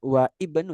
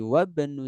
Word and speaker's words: wabnu: Ya, bukan wa ibnu tapi wabnu Zaidin Talib.